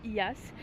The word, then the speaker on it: Oia: Cette fois-ci sur Terre, je suis à IAS. Ça s'écrit OIAS.